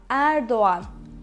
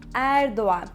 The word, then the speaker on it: Erdoğan: Yes, it's Erdoğan. Erdoğan. But in this one, we don't actually make a double sound. We actually connect O and A. Erdoğan. Erdoğan.